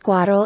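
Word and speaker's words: Quatrelle: 4 the Rena 4 also known as the four leaders pronounced quadral in French is a small Economy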